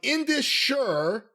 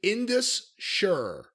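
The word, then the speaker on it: Indus Sher: I'm pronouncing this correctly in this sure i-n-d-u-s and then the next word is s-h-e-r sure like John sure but sure sure sure so who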